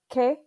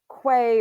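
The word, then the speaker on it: qué: on that vowel and q u is always pronounced with a k sound so this is not uh quay or any it's k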